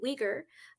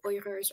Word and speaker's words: Uyghur: joining your show so I believe the mainstream pronunciation so for example in a news program like this or any mainstream news program would be uighur or weaker Muslims but um the the correct pronunciation in the in their language is so it's in other words here at Justice for All Canada we actually say oyers or Muslim well I